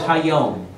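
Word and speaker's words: היום: As long as it is called Hayom, or today. That's how you say it in Hebrew, which means the day.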